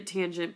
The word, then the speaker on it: tangent: all right and so you'll always read a tangent but if you notice in the formula it's written as tan and then that's the